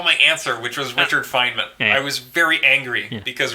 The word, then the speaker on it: Feynman: I'll also say no I'll stick with Richard Fineman because that guy was totally rad yeah he was super awesome yeah so I'm gonna stick with that fama said it right that's true Richard Feynman perfect you oh and Tomas can go have